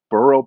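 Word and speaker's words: Brough: it's I don't give the pronunciation right it's bural Brothers it was three there three brothers in Louisville Kentucky who have started their own line of bourbon terms of huh burrow Brothers yeah yes yes I think it's burrow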